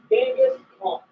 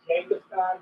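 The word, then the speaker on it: Genghis Khan: Gangus Kong. Um probably the most famous concert in the entirety of everything. Yeah. Uh um I think the actual name is pronounce it Gangaskhan. I'm sorry that doesn't sound cool.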